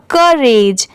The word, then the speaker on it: courage: जैसे ये करेज है तो यहाँ पर CO क्या हो गया, क, और RAGE, यहाँ पर U साइलेंट है, RAGE, रेज, दोनों मिला देंगे तो क्या हो जाएगा, करेज, ठीक है, करेज।